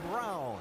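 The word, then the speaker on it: Braun: Alan, I Vince, just a couple of spots behind him on the racetrack, Colin Brown. Yes, I know the way it's spelled. He pronounces it brown.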